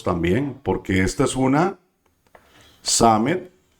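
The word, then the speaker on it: Sámej: Los también, porque esta es una Samet y se pronuncia como una S.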